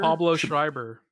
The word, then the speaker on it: Pablo Schreiber: Pablo Schreiber.